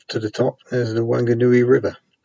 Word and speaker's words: Whanganui: good new e river it's sort of pronounced one good newbie that excited is a bit of a debate and the WH rule doesn't seem to work on the west of New Zealand it was very very